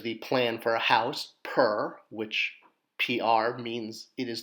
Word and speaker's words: pr: ah or there's the plan for a house per which PR means it is the word house